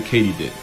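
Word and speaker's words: katydid: not actually crickets they're a subfamily of the Katie did which is apparently how you pronounce it Not only was I wrong but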